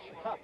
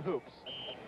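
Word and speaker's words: Hoopes: fourth down so Mitch hups we understand it's hups not Hoops that's the way his mother wanted to pronounce number nine will go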